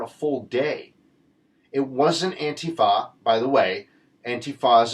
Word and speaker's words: Antifa: So anybody who is against Antifa, by the way, that's how you say it, it is pro-democracy, pro-liberty, pro-freedom.